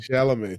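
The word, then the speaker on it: Chalamet: T is silent.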